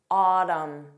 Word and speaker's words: autumn: Autumn, column, solemn, condemn, him, damn.